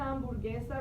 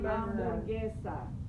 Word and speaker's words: hamburguesa: Una hamburguesa, remember the H is silent. Una hamburguesa, which is a hamburger.